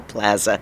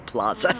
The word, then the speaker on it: plaza: It's funny because as a Kansas Citian, I pronounce it plaza with that super hard A, even though I know it's a Spanish word and the Spanish pronunciation is plaza.